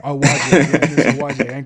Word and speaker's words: Owoaje: Owaje. Owaje, yeah, Miss Owaje.